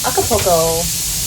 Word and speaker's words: Acapulco: And then this weekend, the rest of this weekend, we get to explore Acapulco. Damn tootin'. I said it right. I didn't put an extra L in like I've been doing.